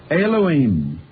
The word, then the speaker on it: Elohim: God there is not your way but is Elohim Elohim and the IM pronounces m in the Hebrew language PluralEyes is